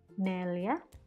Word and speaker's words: neljä: Okay, again, this one, notice that the Y here is pronounced in the English alphabet, even though in the Finnish letter it's J, because the pronunciation of J is Y.